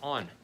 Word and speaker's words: On: right now is called, the brand name is On. Where is it? Where is it? Where is it? Where is it? I can't find it. On. Cloudflare. Anyway, it's On.